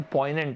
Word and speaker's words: poignant: जैसे मान लो अगर मैंने आपको एक वर्ड दे दिया POIGNANT, इस वर्ड का प्रोनाउंसिएशन पॉइनेंट होता है, पॉइनेंट, POIG, यहाँ पे जी साइलेंट होता है, पॉइनेंट इसका प्रोनाउंसिएशन होता है।